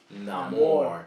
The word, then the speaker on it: Namor: it's in the movie he himself actually pronounces it no more yeah which means No Love No Love yeah oh wow it